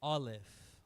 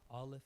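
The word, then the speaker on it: אָלֶף: So starting the very top right, that's pronounced Aleph. Aleph is how that's pronounced. No sound. It makes no sound.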